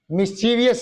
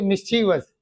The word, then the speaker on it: mischievous: मिस्चीवियस नहीं बोलना है, याद रखो इसको, क्या बोलोगे, मिस्चीवस, जैसे ग्रेसस, मिस्चीवस, प्रेसस, प्रेशियस नहीं, इसको क्या बोलोगे बच्चों, प्रेसस, प्रेसस, प्रेसस, प्रेसस, नॉट प्रीशियस।